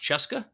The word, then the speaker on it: CSKA: So the team he plays for, CSKA, which I was told is pronounced Cheska. Yeah, I mean it's basically the old Red Army team. Okay, so it's CSKA, it's Cheska Moscow.